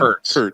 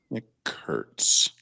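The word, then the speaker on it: Kurtz: Curts. Nick Curts. Yes. Nick Curts.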